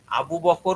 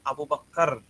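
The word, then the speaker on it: أبو بكر: উচ্চারণ বাবাকে বলতেছে যে আবু বকর হল বাংলা উচ্চারণ কিন্তু যখন সেটা আরবিতে থাকবে তখন এটাকে উচ্চারণ করতে হবে আবু বক্কর সে হুজুর এটা ইয়ে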